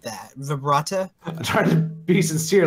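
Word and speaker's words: Vrbada: I think it's Verbata, no? Yeah, it's Verbata.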